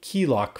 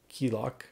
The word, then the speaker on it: KeeLoq: And then on file, we'll change this file from came file protocol to be KeeLoq file protocol.